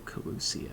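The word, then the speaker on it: Kholusia: much of nor only one remains that of kusia and with' to guide us I am certain we will find it no kusia that's how it's pronounced we're so close now if we can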